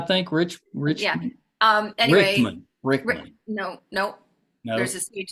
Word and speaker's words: Rickman: in Alan um I always say his last name wrong is it rich rich how do I say Richmond I think rich rich um anyway Rickman no no there's a stage there but um